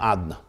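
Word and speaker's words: Adonai: hainu inyan hagiluhu b'shem adna. So this means that the way he's written is not the way he's pronounced. The way he's pronounced is the name Adna, not Yud Kei Vav Kei.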